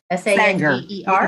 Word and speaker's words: Sanger: lot of input from Sanger. I'm not sure how to say it. Sanger. Sire? S-A-N-G-E-R? You have to throw a bit of an Okie accent into it.